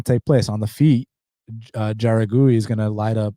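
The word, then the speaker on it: Jauregui: And then the next one in the strawweight division between Yasmin Juragui, that's how you pronounce it.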